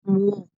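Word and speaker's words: 무: y luego la o ahora esto se pronuncia mu mu pero cuando hablamos rápido en coreano hablamos rápido termina sonando más como simplemente mo Mo técnicamente es mu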